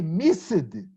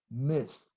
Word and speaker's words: missed: the verb totally incorrectly not miss it but missed rest okay well if the